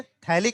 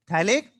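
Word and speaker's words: phthalic: तो इसे बोलते हैं थैलिक एसिड। क्या बोलते हैं? अच्छा, पीएच साइलेंट रहता है यहाँ पर, पीएच THALIC। इसको पीएच पर थैलिक एसिड नहीं बोलते हैं ना, क्या बोलते हैं इसे?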